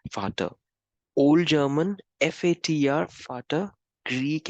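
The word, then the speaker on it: Vater: the German what we although it is v-a-t-e-r is pronounced as fata old German f-a-t-r fata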